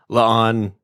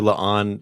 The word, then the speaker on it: La'an: and I truly enjoy LA on as a character I do feel sorry about her name though I mean it even rhymes with Khan It's like oh a